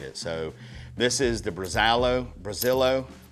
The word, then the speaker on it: Brazalo: So, this is the Brazalo.